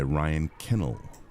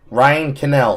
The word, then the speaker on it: Ryan Canel: Ryan Canel of the Arcade Outpost. Get it right. Why would you pronounce Ryan Canel as Ryan Kennel?